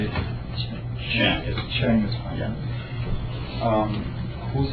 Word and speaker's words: Chiang: Chiang.